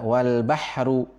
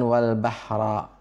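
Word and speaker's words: والبحرُ: Di Al-Qur'an kita adalah wal bahru, bukan wal bahra.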